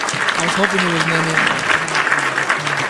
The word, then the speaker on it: NENE: I was hoping it was NENE. Not pronounced what? Not pronounced like a weird way. What would be a weird way? I don't know, like if you were white, you'd probably be like, it's Nen.